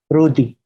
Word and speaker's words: Rody: comprobar la gente es lo escribe como rody pero pronuncian ruti de verde de 130